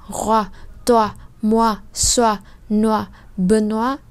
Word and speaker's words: Benoît: Như vậy O-I trong tiếng Pháp thì sẽ giống với lại O-A-oa trong tiếng Việt. Như vậy đây không đọc là noi hay khoi hay choice hay roi hay toi, mà chúng ta đọc là oa.